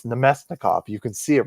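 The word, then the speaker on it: Namestnikov: And then one day I read it and I was like, "Wow, that's definitely not how you pronounce that." Uh, it's Nomestnikov.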